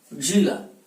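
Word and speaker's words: ज़िला: अंग्रेजी में जेड आता है इसके लिए, अंग्रेजी में इसकी स्पेलिंग ऐसे लिखते हैं जिला। तो हिंदी में जब लिखें, और ये अन्य भाषा का शब्द है फारसी का, तो जिला, ये ध्यान रखें।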